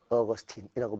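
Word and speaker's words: Augustine: 그 귀신 같은 늙은이의 이름이 성 아우구스 티누스라는 사람인데 영어로 발음하면 성 어거스틴이라고 불려지지.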